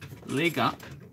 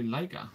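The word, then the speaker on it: Leica: worse sometimes I say Lika which is how you say in Spanish sometimes I say Lika like they say it in German in English that's always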